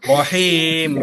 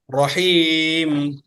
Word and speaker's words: رحيم: রহিম, হাড়ার উচ্চারণে খেয়াল করতে হবে। রহিম।